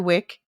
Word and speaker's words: Wick: Mr Wick and Mr Wick uh his name rhymes with Dick for a reason because